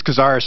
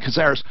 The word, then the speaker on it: Cazares: It's Cazares, a hard C. Oh, hard C. Okay, yep. Cazares.